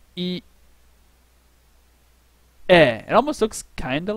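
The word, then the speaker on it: いいえ: E, E. Eh, it almost looks kind of like an E. I don't know if you're a weirdo. E-eh. This is how you say no in Japanese.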